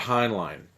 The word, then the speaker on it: Heinlein: I was glad to see that I've been pronouncing his name right all these years Robert Heinlein he wrote the Starship Troopers and space cadets